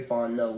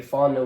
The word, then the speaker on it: Fontenot: way to make Terry Fontenot look like a genius after this. No. Is that how you say it, Fontenot? Fontenot, okay. yeah. I was putting the T at the end, Fontenot.